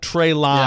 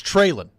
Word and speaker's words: Treylon: hey nashville media trailing it's not trey line i don't know where this trey line stuff has come from that's how it's spelled it's trailing it's trailing they've tried to explain